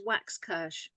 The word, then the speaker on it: Waxkirsh: It's exactly as it's spelled. It sounds as the way it's spelled. So it's Waxkirsh.